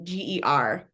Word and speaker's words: Geissinger: It's Geissinger.